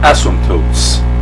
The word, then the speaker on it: asymptote: is the concept of asymptotes be true some tow you don't pronounce that P I suppose but is